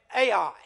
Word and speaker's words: Ai: tent between bethl and Ai and I hope I'm pronouncing that Rodney it's either AI or I I hear it pronounced both ways and notice there he